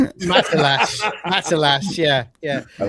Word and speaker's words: Matalas: How you said the He was like Metalus. Matalas.